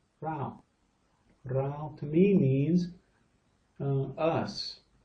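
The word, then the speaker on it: เรา: The R with the ow. This is rolling down the hill on her head. Rao.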